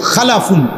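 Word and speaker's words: خلف: হল খালফুন আরেকটা হল খালাফুন একই শব্দ শুধু উচ্চারণের মধ্যে একটু ভিন্নতা মাঝখানে একটা লাম আছে এই লামটার মধ্যে যদি সাকিন হয় তাইলে হল খালফুন আর যদি লামের মধ্যে জবর হয় তাহলে হল খালাফুন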